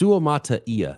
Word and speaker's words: Suamataia: then and Suma would you how do you pronounce Sumaya it's suamataia is how you're supp MIA yeah yeah he's